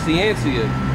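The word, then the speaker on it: Ciancia: shooter's last name was his last name was uh siencia but it's spelled his name is spelled c-i-a-n-c-i-a yeah so it's just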